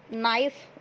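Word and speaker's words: know: हम next world नो इसमें भी के साइलेंट होता है कि के एन ओ डब्ल्यू नो यानी क्या होता है जानना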